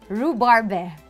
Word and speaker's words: Rhubarbe: How do you pronounce? Rhubarb? Rhubarbe.